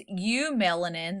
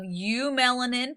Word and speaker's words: eumelanin: There's eumelanin, that's spelled EU melanin, and there's faux melanin, PHEO melanin. Got to spell them crazy.